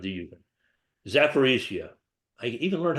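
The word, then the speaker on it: Zaporizhzhia: Now, Sandra asked about the nuclear power plant in the Ukraine, in Ukraine, sorry, not the Ukraine, Zaporizhia. I even learned how to pronounce it. Zaporizhia is really close to the Russian side of Ukraine, and the Russians took it over.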